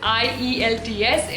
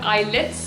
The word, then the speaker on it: IELTS: you can see on the screen it is ielts it is not ilits it's not it's not ilts you can say it is ielts but people